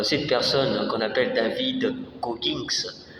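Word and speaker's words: Goggins: Savez-vous euh cette personne qu'on appelle David Gogins ?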